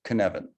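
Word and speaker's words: Cynefin: or more completely the kinevin framework based on a welsh word which is pronounced kanevin that roughly translates as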